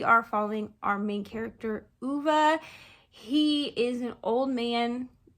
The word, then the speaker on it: Ove: so I do know that his name is pronounced UVA um this was also just made into a